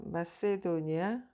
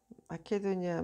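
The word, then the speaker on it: Macedonia: 포 어 마세도니아 마케도니아 마세도니아로 영어론 그렇게 발음하고 원래 그 헬라어에서는 마케도니아가 맞을 거예요.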